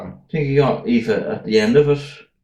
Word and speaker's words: Aoife: That one It's was AOIFE. Aifa. Is that what they say? OIFA or something. Aifa or Yeah. something. Aifa. Aifa. That's how it's supposed to be pronounced.